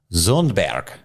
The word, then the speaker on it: Sundberg: This question comes in from Kelly Sundberg. And actually, I took a few semesters of Deutsch, and so her name would be pronounced Zundberg.